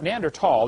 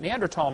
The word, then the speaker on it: Neanderthal: know the neander th neander tall the H is silent neander tall man is named after